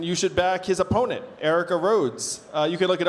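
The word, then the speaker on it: Aarika: Now, his opponent is Erica Rhodes, who's completely pro-Web3, and she also has a compelling personal story.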